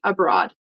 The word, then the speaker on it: abroad: so it's like uh I thought I heard abroad but it's abroad can you repeat abroad abroad okay good um next